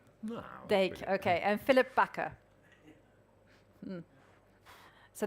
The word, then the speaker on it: Dijk: Like Dick Van Dyke. No, I can see people laughing. That is not the pronunciation. No. Dijk, okay.